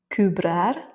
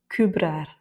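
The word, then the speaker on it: cobrar: Donc ici c'est le a qui est tonique puisqu'il y a un r à la fin. Et donc comme ce n'est pas le e qui est tonique, il va avoir moins d'importance et donc on le met dans le nez kubrar.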